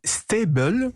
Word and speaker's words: Staybl: des lettres plus facile à différencier l'application s'appelle steibel ça s'écrit sta y est elle est pour le